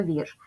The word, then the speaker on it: вірш: буде на нього падати називаємо приголосні звуки перший звук в м'який тому що буква і пом'якшує попередній приголосний наступний звук р твердий звук ш твердий Давайте порахуємо кількість букв